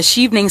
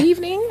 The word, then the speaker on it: Chevening: So, how did you hear about the Chevening Scholarship, and why did you decide to apply?